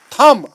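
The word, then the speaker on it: thumb: last पर होता है थर्ड एग्जांपल थंब हम नहीं कहते हैं हम बी को साइलेंट हम डेबिट नहीं कहते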